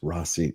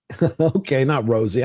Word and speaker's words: Rossi: My name is pronounced Rossi. Not Rosie. I'm a dude. 100%.